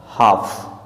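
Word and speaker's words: half: Next word है हमारे पास हाफ, यहाँ भी यह वर्ड ए के बाद आ रहा है, तो ए के बाद एल आ रहा है, इस कारण से साइलेंट हो जाता है, तो हाफ मीन्स होता है आधा।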